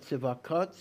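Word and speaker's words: צבאות: Like specifically Tzva-kot, I just cannot Yeah, it is, Tzva-kot, we pronounce it Tzva-kot, but it's spelled with an aleph.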